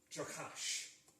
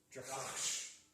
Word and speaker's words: Jokash: To pronounce the word, it is Jokash. With a h. So you have to add the h into it because it's like a growl. Jokash.